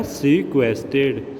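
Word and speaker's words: sequestered: सीक्वेस्टेड। हमें बस आर को ऐसे प्रोनाउंस करना है जैसे सीक्वेस्टेड।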